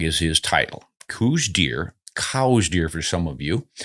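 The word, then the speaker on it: Coues: 70s or so and he pronounced his name cows but everybody looks at the spelling c o u s and says C so I've given up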